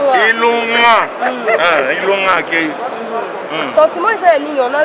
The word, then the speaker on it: Ilunga: Ilunga, il faut bien prononcer. Ilunga.